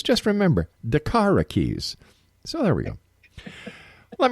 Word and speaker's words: DaKara Kies: air and I was asking darara how she pronounces her name and she says just remember darara keys so there we go let me tell you